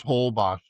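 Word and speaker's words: Holbox: And that is Whole Boss spelled H O L B O X Boss.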